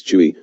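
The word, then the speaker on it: 吹: associated with the lungs; Chui, pronounced like Kui with a forceful exhale, which is associated with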